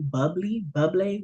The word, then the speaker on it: Bublé: Because I don't, yeah, because they're giving me this song by Michael Bublé, whatever his name Yeah.